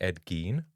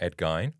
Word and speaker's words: Ed Gein: But first thing, I think his name is actually Ed Gene, not Edgy. Oh, did I say Ed Gyne? Yeah. Is it Edgy or Edge Gene? Ed Gene. It's kind of a weird sound.